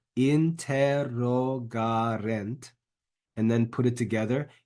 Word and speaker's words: interrogarent: Make sure the accent is put in the right place. Interrogarent. And then lastly, eum.